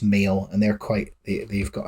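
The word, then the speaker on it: Mhaol: called male which is m h a o l with a with the H in Brackets but I think it's pronounced male and they're quite they've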